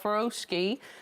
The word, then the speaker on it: Furoshiki: So this is what it looks like, and it's called Furoshiki. Now, some people pronounce it differently. Furoshiki. Yeah, exactly.